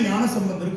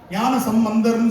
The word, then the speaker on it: ஞானசம்பந்தர்: இதுல என்னனா மூன்று வயது ஞானசம்பந்தர் ஆகும். சரியா அப்ப அந்த நேரத்துல நல்ல உச்சரிப்பு நிறைய தவறு பண்ணுவோம் ஞானசம்பந்தர் சொல்லக்கூடாது. ஞானசம் பந்தர் பந்தம் என்றால் உறவு. பந்தம்னா உறவு. சம்னா நல்ல என்று பொருள். ஞானத்தோடு நல்ல உறவு வைத்தவர் அதனால் ஞானசம்பந்தர் இதை சொல்லிட்டு வாரியார்